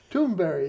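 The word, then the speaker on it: Thunberg: the year wow clement crisis activist greta thunderberg tuneburg actually if you hear her pronounce it it it sounds like it's very strange toonberry yeah yeah well it's like you know brattleboro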